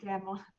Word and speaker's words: DAMWON: You pronounce that for me? Damwon.